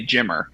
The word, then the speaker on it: Jimmer: they always call me Jimo because they can't really pronounce the ER, right? So they can't say Jimmer. So because of that, they say Jimo.